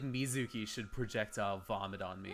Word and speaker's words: Mizuki: Okay, Mizuki. It's Mizuki.